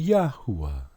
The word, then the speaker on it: Yahuwah: The correct pronunciation would be Yahuwah. The vowel follows directly after the ha, and it gives you the phonetic sound, and the U and